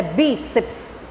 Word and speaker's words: bíceps: Pronuncio de uma única vez, porque eu tenho só 2 sílabas, eu tenho que lembrar. Tem consoante somente? É tudo junto, tudo junto. Agora, o importante é isso, é bíceps.